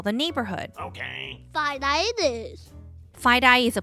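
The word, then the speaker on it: FiDi: The financial district in New York City is also known as Fide-Eye. Fide-Eye sounds like tie-dye. That's silly. It kind of does. Fide-Eye is spelled F-I-D-I. It's the first 2 letters of the words financial district.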